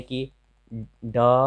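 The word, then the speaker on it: could: डफ कम, डी फ क म, यानी कि ड फ क म। एल के बाद अगर ये सब रहे तो एल का उच्चारण नहीं होता है, जैसे शुड, एल के बाद डी है।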